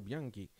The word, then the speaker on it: Bianchi: Je pense que c'est un Italien et je le prononce à l'italienne. Donc si c'est un français que ça se prononce Bianchi, excusez-moi, mais en tout cas en italien c'est Carlo Bianchi.